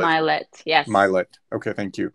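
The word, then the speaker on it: Mylett: I don't know how to pronounce his last Yes, name, but Ed Ed Milet. Milet, yes.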